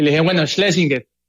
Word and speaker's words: Schlesinger: sin rubor alguno, sin ninguna pena si lo pronuncio bien. Santiago Schlesinger, bienvenido.